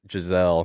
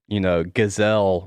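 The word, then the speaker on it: Gisele: Giselle. Yeah. I know, Gazelle wants me at home.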